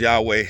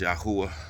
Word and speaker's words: Yahuwah: the Bible as well it's not pronounced Yahweh it's pronounced yahuwah it's very important to